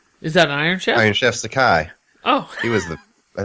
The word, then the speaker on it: Sakai: aye it's a Caillou sake or can you spell it s ay que hay I Sakai Sakai Stan Scott yeah gingka like Iron Chef is that an Iron Chef Sakai oh he was the I think it was